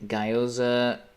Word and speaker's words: Gyoza: Gyoza, pronounced. What the fuck are you talking about, buddy? Hold on. What are you talking about? Gyoza, pronounced like the GI and...